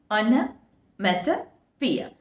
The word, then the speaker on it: onomatopoeia: It should be pronounced as onomatopoeia.